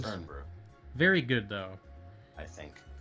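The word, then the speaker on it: Irn-Bru: soda we had in the import section called Iron Brew. Was it Earn? Yeah. Yeah. Or Earn Brew. I don't know how it's pronounced. It's Earn Brew.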